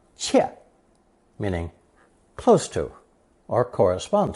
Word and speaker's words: 切: Since nothing comes closer than a knife blade as it slices through something, this visual image is the second connotation, pronounced fourth tone, 切, meaning close to or correspond to.